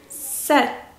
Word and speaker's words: said: I said 이렇게 길게 해주셔야 돼요.